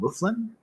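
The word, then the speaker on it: mouflon: going to be called i think they're called muflin is how you pronounce it but i'm not seeing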